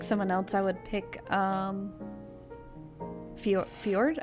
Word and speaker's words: Fjord: But if I have to pick someone else, I would pick Fjord, I think? Ford? I think the J is silent, but played by he's played by Travis Willingham.